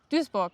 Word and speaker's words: Duisburg: Aber die Schreibweise ist schon lustig mit dem UI. Also man würde ja normalerweise dann Duisburg sagen oder so. Aber ja, das UI so ausgesprochen scheint irgendwie eine alte niederländische oder deutsche Form zu sein. Okay. Die sich ausgerechnet bei Duisburg noch so erhalten hat.